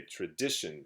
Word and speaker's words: tradition: word is tradition tradition you can say tradition stress on dick tradition tradition three syllables and so this word